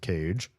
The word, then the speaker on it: Kaye: I believe their name is pronounced Cage.